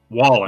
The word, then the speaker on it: Wallen: Wallen.